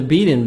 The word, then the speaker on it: beaten: bath go off the beaten bath beaten t soft d beaten british american beaten do something unusual found